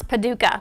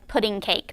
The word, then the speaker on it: Paducah: And he's dealing with a 4th grader that is stressed out about a map and a boundary and, trying to pronounce Paducah, which he thought said pudding cake.